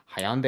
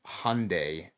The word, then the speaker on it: Hyundai: Why am I calling it that? Hyande. It's Hyundai. Hyundai. It's like spelled like Hyundai.